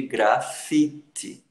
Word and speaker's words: grafite: Você vê aqui grafite. Ele não tem acento, mas a gente vê que a sílaba tônica é fi, fi, fi. Grafite, ok? Habitante, habitante, habitante.